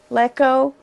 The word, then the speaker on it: Leko: Leko?